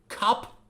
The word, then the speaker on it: cup: The first word is cup, cup. We have to make the short sound, with a closed position, cup, cup.